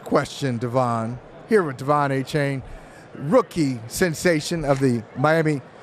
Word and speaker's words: Achane: Here with De'Von Achane, rookie sensation of the Miami Dolphins. Is it Achane or Achane? Achane. Achane, because I've heard so many different pronunciations of Achane. Yeah. So it's Achane?